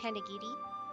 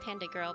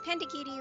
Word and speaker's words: Panda Giri: For those that don't know who I am Panda Giri. It looks like Panda Girl, but it's Panda Giri, like Onigiri.